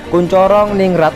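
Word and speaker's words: Koentjaraningrat: Menurut kalau zaman dulu tulisan NTJ itu bacanya TJ itu C. Kuncoro ningrat menyatakan bahwa kebudayaan hanya dimiliki manusia yang tumbuh serta berkembang sesuai dengan perkembangan masyarakat.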